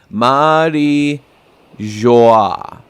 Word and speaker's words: Mary Geoise: And it is pronounced Marie Joie. Marie Joie. Marie Joie. Yep, so that's the correct one.